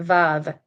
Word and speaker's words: Vav: It says the Hebrew letter that corresponds most closely to the English sound W is the letter Vav. It looks like a straight line, like an I. While modern Hebrew typically pronounces it as a V, like in very, it historically had a W sound.